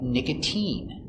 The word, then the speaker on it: nicotine: Valentine but sometimes it's pronounced with the sound e like nicotine use the e sound nicotine and sometimes it's sounds